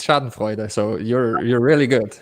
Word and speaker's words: schadenfreude: yeah you're you're like you're spot on it's chad voider so you're you're really good shot voider is perfect yeah sorry for interrupting that well